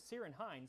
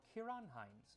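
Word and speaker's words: Ciarán Hinds: I used to think his name was Sirinheind, but it's actually pronounced Kieran or Kiranhines, my favorite Irish actor.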